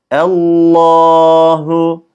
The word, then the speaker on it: Allah: İsmi Azam Allah'tır ama orijinalinde Kur'an lafzında Allahu Allahu şeklinde e'yi ince yapıyoruz Lama bastığımız anda lafzatullah kalın telaffuz ediyoruz bu Lama lafzatullah da